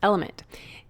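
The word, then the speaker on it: LMNT: sponsors LMN element it's spelled l MNT but pronounced element if you haven't heard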